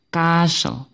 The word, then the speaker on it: castle: ini ini membacanya adalah enggak ada suara t-nya jadi t-nya di-silentkan ya jadi membacanya Bagaimana membacanya tanpa t castle castle jadi ya Castle